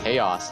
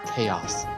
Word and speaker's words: Chaos: Another thing I realized is that Chaos has no capitalization in his name. Therefore, it's pronounced Chaos, not Chaos.